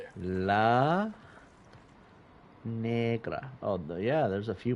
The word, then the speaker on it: negra: We're going to call them a negra. Negra. What the? Negra means black. It's Spanish. I promise. Um, you got to roll your R when you say it.